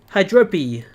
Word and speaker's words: Hydropi: that's very cool actually I was pronouncing the last part like puppy like the end part of puppy that's what I was aiming for I do know